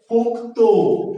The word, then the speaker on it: পোক্ত: যুক্ত ব্যঞ্জনের শেষের ধ্বনিটা ওকারান্ত উচ্চারিত হয়, এটার উচ্চারণ হচ্ছে পোক্ত।